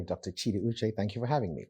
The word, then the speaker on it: Chidi Uche: all the way in from Jacksonville Florida Dr Chi uch welcome thank you do miss my name is Dr cheetah uch thank you for having me absolutely and you know I made sure I pronounced that precisely you're the founder of Jacksonville